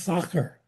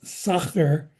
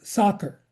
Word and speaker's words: Sacher: always chasing me around trying to get me to pronounce Sacher as opposed to soccer. Come on, we would just say soccer tort. And they go, what are you playing ball? You kicking the ball around? It's Sacher.